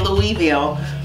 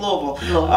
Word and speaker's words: Louisville: We say Louisville, Louisville. That's it. Did I say it right? You did. Louisville.